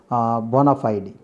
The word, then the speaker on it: bona fide: First of all, number 15th is bona fide. Bona fide. Bona fide, the pronunciation is, correct pronunciation is, the stress we should pronounce bona fide. The stress is second word.